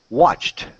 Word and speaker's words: watched: The next one, if the word ends all right, so ending in the sounds P, K, F, S, and CH, we say T, okay?